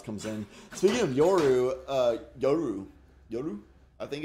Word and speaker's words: Yoru: I think if your Japanese pronunciation would be Yoru. Yoru. Because all syllables have the same stress as each other. Whereas American, we stress one syllable more than the rest for some reason. So it'd be Yoru.